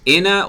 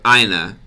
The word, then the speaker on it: Inna: in actually so in is it pronounced in uh or or ina let me know I don't want to I don't want to mess it up all right let me start the timer first is correct inna okay awesome yeah if